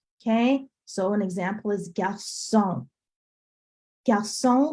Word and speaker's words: garçon: If that C with the accent did not exist on that garçon word, it'd be pronounced galcon, because is the original sound. That accent on the bottom changes everything.